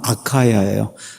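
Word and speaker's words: Achaia: 한 나라의 윗부분은 마케도니아, 아랫부분은 아가야. 이 영어식으로 발음하면 아카야예요.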